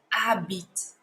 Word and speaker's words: habite: And we do not say the letter H here. We just say it as habite.